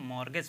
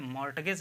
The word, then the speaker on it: mortgage: मॉर्टगेज लिखा हुआ है, लेकिन इसमें टी साइलेंट है, इसको हम मॉर्गेज पढ़ेंगे, ठीक है, मॉर्टगेज नहीं कहेंगे आप, क्योंकि मॉर्टगेज अगर कहेंगे तो ये गलत हो जाएगा, ठीक है।